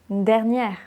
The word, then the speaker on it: dernière: Le E autorise la prononciation du R. Légère, pas légèreux, légère. Léger, légère. Dernier, dernière.